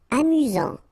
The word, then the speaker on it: amusant: Amusant. Final T not pronounced. You get only one S here between the vowels, so it's really this Z sound. Amusant.